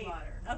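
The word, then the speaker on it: Stiefvater: Yes, I don't know how to say her last name. Steve Otter. Okay, yeah, Steve she has Otter. it on her website. Okay. I'm always like Maggie Steve. Yeah. Okay. Thank you, Steve Otter.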